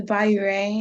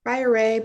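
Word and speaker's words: biuret: which assay about the biu ray has yeah it's the biryani biorae bioret puree i've heard it pronounced a lot of different ways so it's all correct to me uh and this solution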